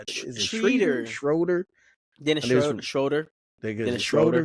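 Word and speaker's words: Schröder: jiren Jackson Jr Dennis shreder schroer Dennis schroer schroer because I think I've heard schroer shreder I've heard a couple different I'm pretty sure everyone pronounce his schroer so I'm just call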